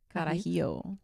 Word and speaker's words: Carajillo: Carajillo. Girl, is better than espresso martini. That's what everyone says. I was at a restaurant so in Mexico, and the waiter was like, "You should get a Carajillo," and I was like, "Dude, it's 11 a.m.